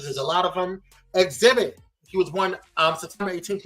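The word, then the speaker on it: Xzibit: Exhibit. He was born September 18th, 1974 in Detroit. Shout out to all those in Detroit. He was born Alvin Nathaniel Joyner, a.k.a. Exhibit, pronounced Exhibit.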